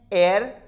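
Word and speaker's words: heir: Examples आप यहां देख सकते हैं, एयर, ओनर, आवर, इन तीनों में एच है वो बिगनिंग में आया और यहां पर साइलेंट होता है।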